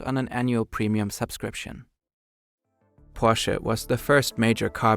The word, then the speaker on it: Porsche: You can tell he is German because in English you don't pronounce the E. Yeah, but it's a German word, so of course we pronounce it correct. Porsche.